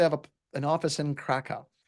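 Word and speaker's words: Kraków: a an office in Kaka or kakou I guess is how they pronounce it there and kou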